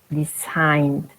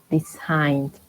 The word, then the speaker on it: designed: Designed with D. Designed. Not designed, no, designed.